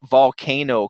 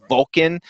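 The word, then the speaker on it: volcán: hiking up an active volcano called volcan pacaya so pacaya volcano so when I say volcanoes today their names and I say Vulcan that's just how it's pronounced in Spanish but before we go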